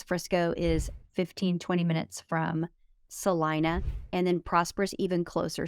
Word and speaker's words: Celina: those five top neighborhoods so as far as Salina goes I know that it's spelled Selena everybody here pronounces it salon so